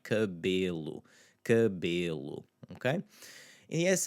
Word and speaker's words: cabelo: Now the unstressed E in cabelo, cabelo.